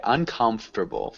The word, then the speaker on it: uncomfortable: that oh my uncomfortable nope sorry uncomfortable four syllables one more time comfortable un